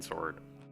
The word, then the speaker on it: sword: I don't know why I pronounced the W in that one, sword.